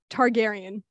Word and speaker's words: Targaryen: i'm going to try my very hardest with pronunciation okay i'll help you out targaryen that's how you use okay i looked it up before so that makes a lot more sense targaryen awesome okay so house of the dragon star